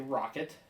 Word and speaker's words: Roccat: It's actually Rocket. I think the double C means like a K is how you're supposed to pronounce that.